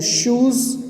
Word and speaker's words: shoes: Shoes rhymes with zoos.